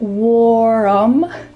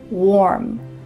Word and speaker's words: warm: Instead, the word warm has just one syllable, not warm. Instead, warm.